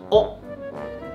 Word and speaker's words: 屋: 问题啊，轩轩读的是屋顶，屋这个字，我们上海话说屋里向，所以它正确的读法应该是屋。